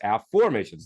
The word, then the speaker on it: Afformations: method of a formations you'll notice this is spelled AF f o r m a t i ns a formations not affirmations so of course every